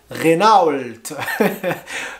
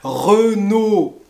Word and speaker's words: Renault: françaises on a les marques de voitures comme renault peugeot citroën alors je répète re nos re noé pas renown renault peugeot et pas peu go peugeot peugeot et